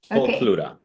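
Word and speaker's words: Pluta: Uh it's spelled P L U T A Pluto.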